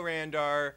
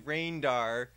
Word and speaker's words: Randar: to let you know randar I said your name right this time instead of saying rainar so I'm just want